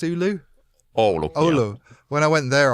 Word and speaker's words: Oulu: Is it pronounced Oulu? Oulu.